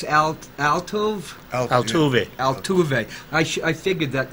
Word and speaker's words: Altuve: How do you pronounce Altuve? Altuve.